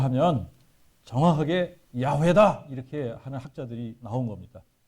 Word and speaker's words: 야훼: 그래서 요거를 그대로 발음을 하면 이야우에 이렇게 된단 말입니다. 이야우에인데 이야우에를 빨리 해보십시오. 그럼 어떻게 됩니까? 이야우에를 빨리 하면 야훼 이렇게 된다라고 하는 거예요.